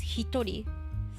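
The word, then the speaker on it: 一人: two and three um so if you're counting someone like a person you say ichi like one person comes hitori so like so most of them are like normal but hitori like one person hitori is kind of special hutari is kind of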